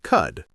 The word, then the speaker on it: could: C O U L D. We say could. The L is silent again. Let's practice a few. Repeat after us. Walk sounds like walk. Could sounds like cud.